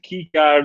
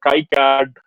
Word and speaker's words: KiCad: going to be gated getting started with kicad or CAI card the community is I get to be okay with the both of the / NC Asian so you can pronounce this as you like so this is a